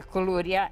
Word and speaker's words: koulouria: And she made a KOULOURIA, and I made a small KOULOURIA.